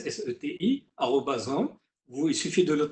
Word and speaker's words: SETI: C'est SETI, comme ça se prononce, SETI, @home.